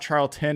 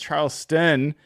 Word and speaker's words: Charlston: really pay attention her name folks is Charleston there's there's a St it's not charl tin it's Charles Sten uh with Fox 13 and and I'm so